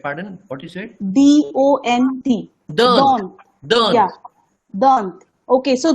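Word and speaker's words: dont: Dant.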